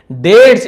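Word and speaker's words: debts: डेट्स increase, date से हम बी को नहीं पढ़ने, डेप्ट से नहीं पढ़ेंगे, डेट्स जिसे हम कहते हैं ऋण, उधारी, और उसके कर्ज बढ़ता गया।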